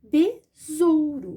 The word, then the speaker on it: tesouro: entre as vogais eu vou escrever com s tesouro mas vou manter o som do Z B rou besouro